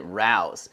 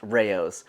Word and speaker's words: Rao's: I pronounced it Rouse, and man, everyone lit me up in the comments, so it is pronounced Rao's.